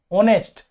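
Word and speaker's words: honest: एच पढ़ रहे हैं ऑनेस्ट एच ओ एन ई एस टी ऑनेस्ट तो ये पढ़ रहे है ऑनेस्ट इसमें एच का उच्चारण नहीं हो रहा है ठीक है तो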